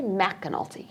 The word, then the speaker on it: McAnulty: We say McAnulty.